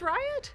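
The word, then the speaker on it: Ryut: Yes, because so they go to Riot, which is the home of the Red Lanterns, and that's what they fought the Black Is it pronounced Riot?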